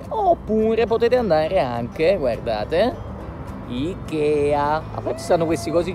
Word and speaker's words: IKEA: allora, poi tra l'altro in Inghilterra si pronuncia in inglese, si pronuncia IKEA. Se dite excuse me, where can I find IKEA? Non ti capiranno mai e poi mai.